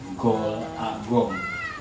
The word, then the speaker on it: Gol A Gong: A-nya itu Allah, Gol, Agong. Kalau dibacanya Golagong.